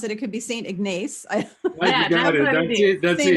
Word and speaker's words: St. Ignace: I don't know if I pronounce it. It could be St. Ignace.